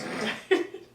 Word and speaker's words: indicted: No, that's how you spell it. It's just pronounced indicted.